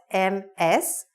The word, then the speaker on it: Ms.: not, then you say Ms. Brown. Now, Ms. is spelled M-S, but it's pronounced like M-I-Z. Ms.